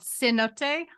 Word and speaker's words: Cenote: Emmy and it's called Cenote I think C it looks like C C notes but it's about this pronounced a little differently c-e-n-o-t-e and one of the